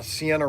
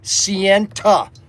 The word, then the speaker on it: Sienta: We just sold another Sienna race set. Sienta. Make sure that you pronounce it correctly. It's Sienta. You have to add that T to it, because that will get Snuggles completely upset.